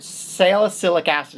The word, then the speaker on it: salicylic acid: salicylic acid, woo, that's I'm salicylic acid is the correct way to pronounce it.